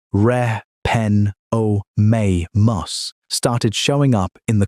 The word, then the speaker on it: Repenomamus: Then a mammal called Repenomamus, pronounced reh pen oh may mus, started showing up in the quarry.